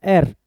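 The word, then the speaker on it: heir: इसकी प्रोनाउंसिएशन में ए आता है, एच नहीं आता, ए आता है। एयर, एयर मतलब वारिस।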